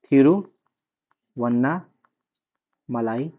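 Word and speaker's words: Tiruvannamalai: तमिलनाडु जो है वहां पर त का उच्चारण थ से करते हैं। ठीक है? त का उच्चारण थ से करते हैं। तो तिरुव्नामलाई जो हम लोग पढ़ते हैं तिरुव्नामलाई उसको वो लोग बोलते हैं तिरुवनामलाई।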